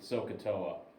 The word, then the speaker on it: SOHCAHTOA: so cough Toa and I always pronounce the H so I remember that the sine and cosine have the hypotenuse in so pronounce the H